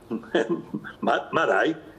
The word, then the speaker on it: Márai: Acento en la Márai, así el húngaro siempre es drújula.